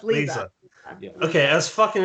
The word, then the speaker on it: Leza: almost said Liza. Yeah, that is Liza. Leza. No, it's Leza.